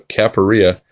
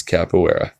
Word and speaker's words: capoeira: that's how it's spelled but it's it's Brazilian and it's capoeira and honestly I'm not even saying it with the correct accent on it but it's capoeira so that's fun right